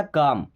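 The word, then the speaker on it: calm: देखिए यहाँ पे एल साइलेंट, हमने क्या पढ़ा, काम, कालम नहीं पढ़ा, काम, काम को तो शांत होना, गुस्सा शांत करना।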